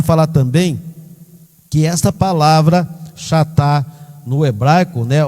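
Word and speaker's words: חטא: também que esta palavra chatá no hebraico, né, ou ratá, como se pronuncia corretamente, é ratá que se pronuncia, embora se escreva chatá, né, ela abrange não apenas errar o alvo, mas deliberadamente acertar alvo errado.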